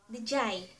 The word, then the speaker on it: diyay: And to say there, diyay. Some also pronounce it as diyay. So you can say diyay, or diyay.